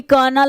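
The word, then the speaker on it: colonel: Lieutenant, कर्नल, जिसे आप कर्नल बोलते हो एक्चुअली कर्नल होता है, L साइलेंट होता है, ठीक है।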